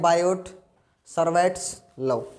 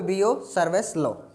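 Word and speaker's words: Biot–Savart law: जैसे आपको दिख रहा है बोर्ड के ऊपर, इसको कई बच्चे ऐसे प्रोनाउंस करते हैं, बायोट सर्वेट्स लॉ, ठीक है। लेकिन टी क्या है बेटा यहाँ पे, साइलेंट, ठीक है। इसलिए इसको क्या बोलोगे यहाँ पे, बियो सर्वेस लॉ, ठीक है।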